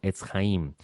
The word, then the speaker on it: Etz Haim: También tenemos un canal de YouTube y nuestro canal de YouTube se conoce como Etz Haim. Etz Haim se escribe Etz-Jaim, Etz Haim, el camino, el árbol de las vidas.